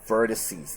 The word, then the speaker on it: vertices: Now the plural of vertex is vertices. That's how you pronounce this one.